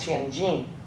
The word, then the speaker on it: Tianjin: It's part of Tianjin, pronounced Tianjin, but Newport was a new port.